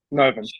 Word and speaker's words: Novum: Is that how you pronounce it? The name is that Novum? Yeah, Novum.